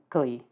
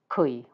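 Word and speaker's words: 癸: And I might pronounce it as Kui, more of a K sound, which is what I usually hear. But that may be my weirdness in my ears. Or it might actually be more of a Cantonese pronunciation.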